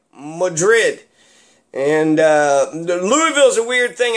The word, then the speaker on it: Madrid: Versailles, Athens, Louisville, named after King Louis the 16th, Louisville, you know, and then Madrid, not Madrid, Madrid.